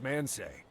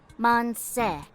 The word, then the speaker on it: Manseju: What's man say? I think it's pronounced more like Monse.